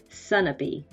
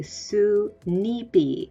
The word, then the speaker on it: Sunapee: new hampshire we hack a city called sunapee and the original pronunciation was probably su nipi and it means goose lake you can also see